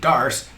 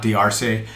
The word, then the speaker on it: Darce: the dark choke and why we pronounce it dars not drc and who may or